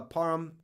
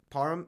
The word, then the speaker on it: Parham: back on the menu they tweeted says Donald Purim uh Parham Parham yeah Donald Parham Jr parm sure tight end